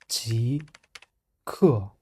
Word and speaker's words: 极氪: In Pinyin or in Chinese phonetic alphabet, G is rising tone and K is falling tone. Together, Ji, Ke.